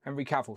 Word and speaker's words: Cavill: Henry Caval.